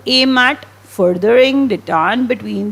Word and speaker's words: detente: इसे पढ़ते क्या है, detente is the pronunciation of the word. Generally ये जो डिटांट है ये नेशंस के बीच में होता है, कंट्रीज़ के बीच में होता है।